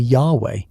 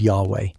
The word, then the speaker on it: Yahweh: Modern scholarship, returning to older linguistic evidence, suggests that the original pronunciation was likely Yahweh, a form consistent with early theophoric names like Yahosua, Joshua, or Yhonatan, Jonathan, which preserve the divine element.